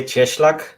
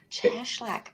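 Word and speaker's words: Cieślak: say your last name I mispronounced that it's yeah it's actually cheslak cheslak okay I would have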